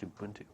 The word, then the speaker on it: Ubuntu: And yes, it's pronounced Ubuntu.